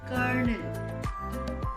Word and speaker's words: colonel: You might see the spelling, it is written as CONO, but when we pronounce, we call it as kernel.